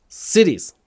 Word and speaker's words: series: И мы делаем такой же звук, когда мы говорим series. It's my favorite TV series.